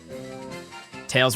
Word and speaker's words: Tails: Tails rhymes with nails, by the way.